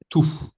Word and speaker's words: tout: Donc ici, vous voyez c'est tout. Pas de T. Pas de s tout.